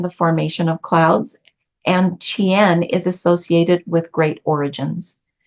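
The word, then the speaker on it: Ch'ien: gate one in the iching is Chen so it's spelled CH and then there's a apostrophe and then I E en so Chen and Barry's uh smaller description for this gate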